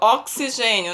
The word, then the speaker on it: oxigênio: com CS né Aí temos aqui algumas palavras oxigênio né oxigênio intenção de CS mas se escreve com X é excursão excursão tem som